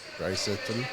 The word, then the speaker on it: Draisaitl: But, like, when the players actually pronounce their names correctly. Yeah. Like, Leon Draisaitl. Leon Draisaitl. Oh, Draisaitl.